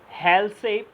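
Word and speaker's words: Halsey: हेल्से plan बेटा, हेल्से एक scientist थे, कुछ लोग इनको हैसे भी बोलते हैं। एल जो है उसको क्या कर देते हैं वो लोग, साइलेंट कर देते हैं। तो आप हेल्से बोलिए या हैसे बोलिए, एक ही बात है।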